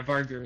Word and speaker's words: Vargur: Always pronounced it Vargur. Yeah, Vargur is the correct.